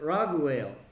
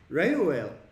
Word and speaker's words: Reuel: Notice how they put Raguel. It is the same Hebrew word that they pronounced correctly in chapter 2. Reuel, right? You look at the Hebrew, it's right here. It's the same. And it's like, why did they translate it Raguel?